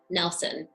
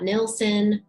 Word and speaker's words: Nilsson: It's pronounced Nelson. I'm here to set the record straight. It's not Nilsson or Nielsen, because it's Nelson, because that's how her father pronounced it.